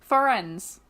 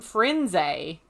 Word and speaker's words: Firenze: But how would you pronounce the main centaur's name? Firenze. Yep, me too. But except for Stephen Fry calls him Firenze.